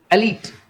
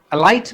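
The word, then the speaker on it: elite: अगले शब्द की तरफ हम लोग आ जाते हैं, एलीट। एलाइट भी कुछ लोग उसको बोलते हैं, सामान्य जो प्रोनाउंसिएशन इसका एलीट आता है।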